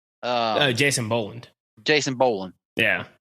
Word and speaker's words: Boland: things stay the same uh ah God uh Bowland uh Jason Boland Jason bowan yeah right uh right first name wrong last name from me but yeah yeah